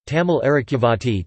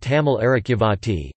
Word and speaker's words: தமிழ் அரிச்சுவடி: The Tamil script, Tamil Arakivati, Tamil Arakivati, T. M. it, U. I.